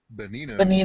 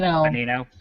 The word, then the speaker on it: Bonino: Bonino. Bonino.